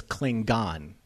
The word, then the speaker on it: Klingon: loved the fact that he says clling gone with a hard g.